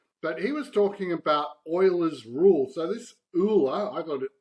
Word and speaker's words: Euler: But he was talking about Euler's Rule. So this Euler, I thought that was Euler's, but it's pronounced Euler's Rule.